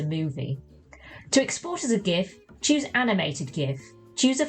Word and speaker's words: GIF: And yes, I say GIF with a hard G, it stands for Graphics Interchange Format. Last time I checked, it's not pronounced Giraffics.